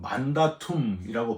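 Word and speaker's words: mandatum: 계명이 라틴어로는 만다툼이라고 발음을 하는데요. 바로이 만다툼이 영어 마운디가 되는 거예요.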